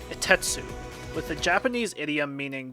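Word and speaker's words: 一徹: According to the Haikyuu guidebook, Furodate gave him the name Itetsu, with the Japanese idiom meaning very tenacious in mind. Both the kanji for Takeda-sensei's name and the idiom are both pronounced as itetsu.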